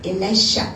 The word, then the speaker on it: Elisha: His name is Elisha. What is it? Elisha. How do you say that? Elisha, Elisha, Elisha. Not Ja, but Shah.